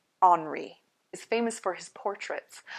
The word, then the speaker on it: Henri: It's spelled Robert Henry, but it's pronounced in French Henri.